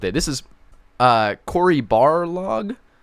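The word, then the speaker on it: Barlog: this is a quarry bar log I believe his name is pronounced I don't say Balrog because it sounds like the Lord of the Rings creature but you know it's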